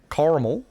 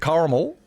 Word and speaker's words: caramel: is it car caramal caramel there's so I Sor I can't my R is not hard enough is it caramel caramel caramel is it caramel or caramel caramel oh my God I